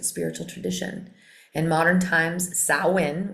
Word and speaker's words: Samhain: So sin is a religious festival originating from ancient Celtic spiritual tradition. In modern times, sin, which is spelled s a m h a i n, is usually celebrated from the 31st to the 1st.